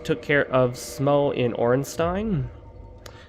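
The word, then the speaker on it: Ornstein: A lot of people pronounce it Orenstein, but I've explained before, based on what appears to be a German word and how that part of a word is pronounced in every other word that it appears in, S-T-E-I-N. I think it would be best pronounced Stein, but who really cares?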